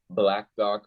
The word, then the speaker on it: BLKDOC: So the name of my app is called Black Doc, but it's spelled BLKDOC. And Black Doc is an